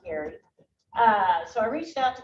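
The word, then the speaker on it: Geary: And so I reached out to my foster sister, former foster sister, Colleen Gary, G-E-A-R-Y, spelled G-E-A-R-Y, pronounced Gary.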